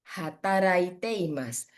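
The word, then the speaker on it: 働いています: Ini bacanya restoran de hataraite imasu.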